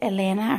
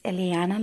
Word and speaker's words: Ileana: one of my students I pronounced her name wrong and I said Elena her name is Ileana Lopez for Ileana like I